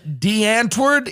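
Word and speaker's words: Die Antwoord: the stories I read was about this band, D'Antwoord. Is that how you pronounce it?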